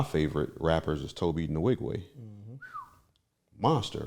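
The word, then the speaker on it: Nwigwe: one of my favorite rappers is Toby the Wigway. Monster, right? Not only is that how you properly pronounce his last name?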